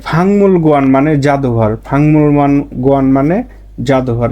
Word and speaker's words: 먹는: তাহলে এর উচ্চারণটা হয়ে যাবে ফাকমুল গোয়ান না হয়ে এর উচ্চারণটা হবে কি ফাংমুল গোয়ান।